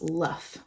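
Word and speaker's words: Loef: He tells me he's 7 years old, and he tells me that his surname is a Dutch surname, and it's spelled L-O-E-F, but it's pronounced Luff.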